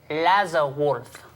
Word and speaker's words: Laserwolf: First, it's pronounced Lazarwolf.